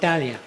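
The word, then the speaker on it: Thanlyin: Today it's pronounced Talia.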